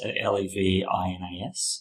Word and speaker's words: Levinas: Levinar talks about how so it's spelled Levinas, Levinas.